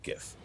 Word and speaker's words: Giff: Now, hard G when you're talking about this particular Giff.